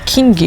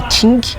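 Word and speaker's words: Qing: Mas no século XVI, na época da dinastia King, a gente fala King, mas a pronúncia correta acho que é Ting, ele chegou nessa região, né?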